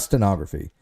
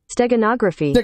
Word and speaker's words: steganography: so it's not stenography no it's not stenography uh it's the it's when you have a like a hidden message inside of a picture is that here I'll play it for you get a pronunciation foreign you're here steganography oh steganography okay steganography technography that's how you pronounce it steganography stag gronography stag